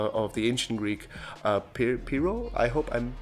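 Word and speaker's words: Pyrrho: the radical skeptic of the ancient Greek uh pero I hope I'm pronouncing his name right it's p y r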